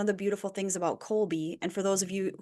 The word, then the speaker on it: Kolbe: from because one of the beautiful things about Colby and for those of you who are Googling it right now stop because it's spelled k o lbe yeah not the way